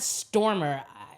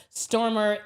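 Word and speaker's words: Stoermer: There is an academic, his name is Tad Stormer. It's spelled Tad and Stormer's S T O E R M er.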